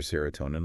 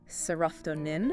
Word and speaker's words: serotonin: And the pronunciation on that one is serotonin. Serotonin. All right. Yeah, tonin. Is that it?